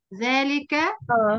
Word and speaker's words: ذلك: فهنا نطقتها إيه؟ ذلك. مش احنا بنتملى، المستر بيقول ذلك وبنقول واحنا بنقراها اولئك، صح؟ ذلك واولئك. في الف بين الذال واللام، وهنا في الف ما بين اللام والايه والهمزه على النبره.